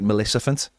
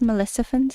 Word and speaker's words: Maleficent: look like you're listening, do you look like Maleficent? Maleficent. That's a name. Yeah. See, I said it. I just say it with a little bit of a You said Melissant.